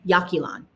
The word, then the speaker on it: Yaxchilan: Yaxchilan, like YA, like if you did it phonetically, Yaxchilan. YA, and then KEY, like a key, and then LAN, Yaxchilan. Okay.